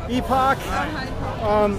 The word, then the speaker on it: Epoch: How do you pronounce it? Epoch.